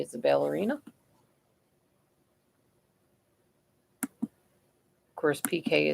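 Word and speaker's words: Piqué: Of course, PK is spelled Pique.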